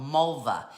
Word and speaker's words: Malwa: These are made by a company, an art studio in Poland called Malwa. M-A-L-W-A, even though you pronounce the W like a V, Malwa.